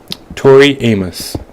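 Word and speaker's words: Tori Amos: uh rape so yeah Tory Amos I think that's how you pronounce her name it's t-o-r-i space and this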